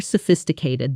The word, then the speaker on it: sophisticated: Their approach to the problem was far more sophisticated than I expected. Say that whole sentence out loud one more time, feeling the stress land firmly on fizz.